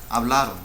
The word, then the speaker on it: hablaron: So we know it's, but if we think about the stressed syllable, it's hablaron, not hablaron. Hablaron means they spoke. Hablaron, hablaron. So it's grave.